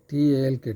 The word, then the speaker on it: talk: পরে অর্থ বলবো, টক কথা বলা, টক, TALK টক, এলের উচ্চারণ এখানে হবে না।